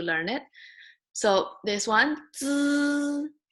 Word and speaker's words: z: Just remember, z sounds like needs. So when you say needs, z, z, and with this z, make it longer.